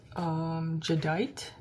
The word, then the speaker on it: jadeite: the mugs, the glass, they're called jadeite. I believe that's how you pronounce it, because it looks like jade.